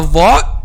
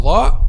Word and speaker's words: ظ: mistakes when pronounced letter dha. As we said, the common mistake when pronounced letter dha is to make the tip of the tongue turns back and then pronouncing letter zay instead of letter dha.